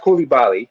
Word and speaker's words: Coulibaly: By the way, it's pronounced Coulibaly.